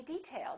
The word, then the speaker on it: detail: say detail or detail if it's a noun we say detail that's an interesting detail first syllable stress this is a hard